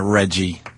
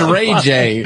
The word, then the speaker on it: Ray J: I didn't say look at, first of all, it's not his name. Second of all, I didn't say his name. You call him Reggie. His name's Ray J. Oh, it's Ray J.